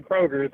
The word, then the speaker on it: Kroger: And there is no S on the Kroger company.